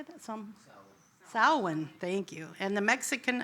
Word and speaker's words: Samhain: Samhain, thank you, and the Mexican observance of Dia de los Muertos.